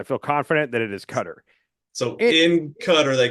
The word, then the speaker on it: Qatar: we all call it Qatar or something like that guar yeah the right way to say it is it's cutter um even though it's